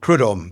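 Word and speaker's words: Prud'homme: How do you pronounce that? Prudhomme.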